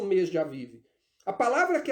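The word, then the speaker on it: אביב: Aqui na minha Bíblia a tradução está Abib. A palavra hebraica, na verdade, se pronuncia Aviv.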